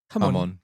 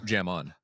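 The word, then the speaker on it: jamón: Hamon. Yeah, hamon. Yeah. Okay, but to be fair to Matt, it's spelled with a J, right? Yeah. Yeah. Yeah. Jam on.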